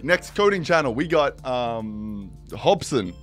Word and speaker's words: Hobson: Anyway, next coding channel, we got Hobson. Is that, I pronounced that right? I got that. It's actually Hobson.